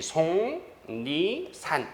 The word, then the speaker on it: 속리산: 속리산은 어떤 발음이 나니까? 속리산. 표준 발음법에 따라 쓰니까요. 그래서 SONG, 송리산 이런 이렇게 쓰죠.